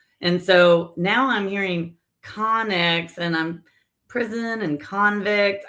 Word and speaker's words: Connex: It's Connex.